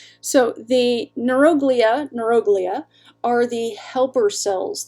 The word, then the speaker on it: neuroglia: not always in science the emphasis goes on the third from last syllable so it's neuroglia but then when you put it together it's neuroglia it's a thing it's it's